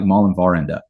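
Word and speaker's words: mellemværende: I'm going to butcher the Danish pronunciation, but it's something like Mallenvarende, right?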